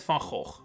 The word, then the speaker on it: van Gogh: made by Dutch painter Vincent van Gogh, or Van Gogh as you've probably heard it pronounced all your life, so I'll stick with that.